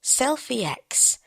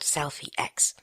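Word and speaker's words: Slfie X: about a really awesome little app it's called Selfie ex that is s l f i e ex voice over pronounces it selfie but it is called Selfie X I can remember a time when cameras were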